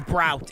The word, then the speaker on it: Brout: Yeah, no, it's Brout. It's literally Brout. That's how you pronounce it. It's Brout. The name is Brout.